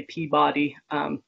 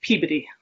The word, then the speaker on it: Peabody: And I know that my husband is from the West Coast, and I know a lot of people say Peabody. In Massachusetts, they Peabody.